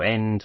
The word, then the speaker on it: Ende: pronouncing his name correctly I've heard it pronounced various different ways on the internet Michael end Michael end Michael ND uh Michael Ender is the one that I've found is the most common place so I'm going with